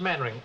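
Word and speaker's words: Mainwaring: sit down thank you actually it's pronounced maning why the devil don't you spell it maning you the LV fell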